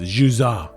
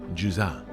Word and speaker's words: Jusant: It's actually a French word pronounced Jusant, but I don't really speak that way because I'm just a simple American. And basically, the T is silent, in case you were wondering.